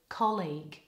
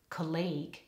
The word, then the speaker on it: colleague: people mispronouncing the word colleague either they pronounce it like college or they put the stress on the wrong syllable and they say colleague or they pronounce it